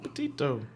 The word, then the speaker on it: Petito: Petito.